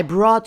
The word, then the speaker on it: brought: I brought yogurt, lamb, and salmon for brunch. Brought, GH in brought is silent.